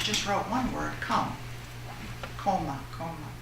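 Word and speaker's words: komme: Koma, koma. If I'm pronouncing it right in German, K-O-M-M-E.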